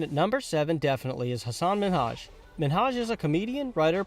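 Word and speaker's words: Hasan Minhaj: television good please because everyone that says your name says hassan minaj yeah but the real way you pronounce it and this is a big deal because my parents are here it's hassan minhaj and people always mispronounce it they're always like haseem menager hussein number six michelle obama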